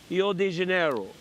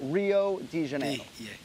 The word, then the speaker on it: Rio de Janeiro: de Janeiro all right they both butchered that middle it's not day it's D now a lot of Brazilians will tell you it's yo de Janeiro but we go Rio de Janeiro Rio de Janeiro yeah